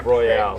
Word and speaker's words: Royale: Both are correct. Royale is just the more American way of saying it. If we were pronunciating it like the French, it would be Isle Royale.